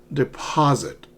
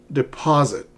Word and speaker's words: deposit: Some pronunciation tips for you. Because remember, when we speak, it's important for us to pronounce the words correctly, or people will be confused. They will not understand you. Deposit. You see the capital letters? Letters in uppercase. Deposit. Deposit. Try to pronounce these words. Okay, don't say deposit. Do not say deposit. It's deposit. Deposit. Withdraw. Withdraw. Balance. Balance. Not balance. Balance. Transfer. Not transfer.